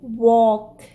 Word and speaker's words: walk: But here AL is followed by K, so it will be pronounced like O, as in walk, chalk, talk.